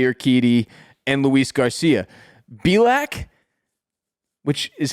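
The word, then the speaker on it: Bielak: McCullers Jr Jose or Keady and Luis Garcia bilack which is how I'm pronouncing his name b-i-e-l-a-k has been solid overall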